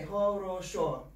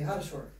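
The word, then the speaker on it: хорошо: So just like you guys don't say ho-ro-sho every time, you say ha-ro-sho.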